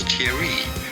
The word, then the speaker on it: Thierry: You could say it in English as Thierry. Thierry is how it is normally said in English if you cannot pronounce the French R.